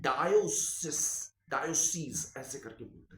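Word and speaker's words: diocese: सी ई एस ई डायोसेस डायो सस ऐसे करके बोल रहे हैं तो करीब करब पूरी दुनिया में बेटा जानते हो कितने डायोसिस हैं 3000 डायोसिस है तकरीबन तकरीबन 29990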